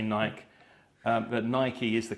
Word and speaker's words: Nike: And I'm really happy you pronounced that, because I had to check the pronunciation of Nike. I've heard it said Nike. Yeah. A lot of people say Nike. But Nike is the correct pronunciation, which I checked earlier.